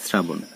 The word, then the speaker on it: শ্রাবণ: আবার যদি শুধুমাত্র ইংরেজি এস এর মতো উচ্চারিত হয় তাহলে এর উচ্চারণ হবে দন্তস্ব এর মতো, যেমন শ্রাবণ বানান, এখানে আমরা লিখছি তালব্যস দিয়ে কিন্তু উচ্চারণ করছি দন্তস্ব দিয়ে, শ্রাবণ।